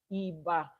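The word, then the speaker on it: Ìbà: we are always making iba. Iba is the first thing. Iba means to pay homage. Eba it is pronounced e like e as in eagle ba is pronounced ba as in b.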